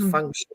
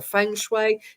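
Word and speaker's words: feng shui: science technology around it called fun or Fue depending on how uh one pronounces it so we know that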